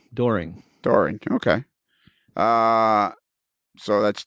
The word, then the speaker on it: Doehring: I pronounce it the same way you do, Doehring.